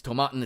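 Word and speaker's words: Tomatin: on the shelf um tomaten not to be confused with tomato tin or whatever like I had to look up how to say it because I genuinely was not sure it's tomaten it's a Highland Scotch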